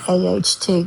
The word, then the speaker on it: out: The first word is the word at aht. We use that instead of saying out. Like I'm going outside.